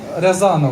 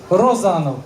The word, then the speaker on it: Розанов: яка створила цю групу Якщо я правильно вимовлю Анатолій Рязанов правильно розанов Анатолій розанов підібрав талановитих наших українських